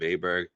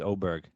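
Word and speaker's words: Åberg: I was more afraid of Aberg. Or how do we say his name? It was Oberg. Now it's Oberg.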